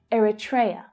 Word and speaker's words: Eritrea: So the third syllable is the stressed one and the others reduce down. Eritrea.